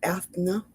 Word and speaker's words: Eithne: So, and if you want to do a little reading up on Goddess, it's Eithne. but it's spelled Eithne.